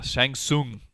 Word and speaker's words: Shang Tsung: Shang Shang yeah but the t's threw us off because there there were silent te's in his name yeah Shang Tsung there's actually weird instances